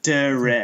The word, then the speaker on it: Derek: Like, I'm a wreck of a person, and then it starts with duh, which is the stupidest syllable sound that you could imagine. Derek. So it's pronounced Derek.